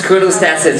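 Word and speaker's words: Chronostasis: And yes, chrono stasis, it's pronounced as chrono stasis, alright?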